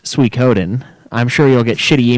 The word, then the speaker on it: Suikoden: Yeah, also, Suikoden is pronounced Suikoden.